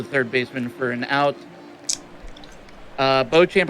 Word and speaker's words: Beauchamp: Beauchamp, I think that's how you pronounce that name. Probably not. Pops one up to the shortstop. Beecham, thank you. Beecham.